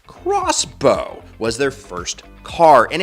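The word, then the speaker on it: X-Bow: The Expo, pronounced crossbow, was their first car,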